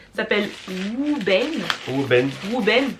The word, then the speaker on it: Wuben: Wuben ou Vuben si vous prononcez à la française.